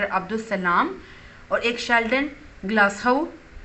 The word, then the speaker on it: Glashow: सलाम और एक शेल्डन ग्लासहाउ, इसको स्टूडेंट्स आप ग्लासहाउ भी जो है प्रोनाउंस कर सकते हो, ग्लासहाउ भी जो है वो करेक्ट होगा।